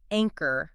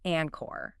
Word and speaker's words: anchor: important it is to pronounce anchor correctly not Anor yeah yeah it's fascinating